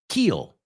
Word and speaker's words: keel: And the second word, keel. Okay, we're going to kill the keel. We're going to kill the keel. Do they sound the same? Not at all.